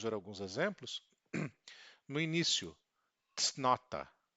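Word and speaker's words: cnota: No início, tsnota, tsnota.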